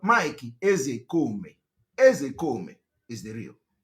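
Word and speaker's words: Ozekhome: When I want to pronounce, I pronounce it the way Igbo people are pronouncing it. I'm a typical Igbo man. The real name of Mike Ezekome is Mike Ezekome.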